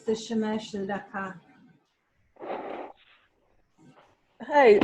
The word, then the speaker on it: Shemesh: yeah, it's the Shemesh Tzedakah. Hey, I said that. I said it wrong, didn't I? Got it wrong. That's what threw me off. Yeah, Shemish. slight spelling issue here. Shemesh. Shemesh. Got it.